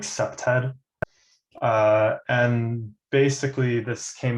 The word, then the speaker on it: CPTED: through environmental design so the acronym they pronounced it like septed uh and basically this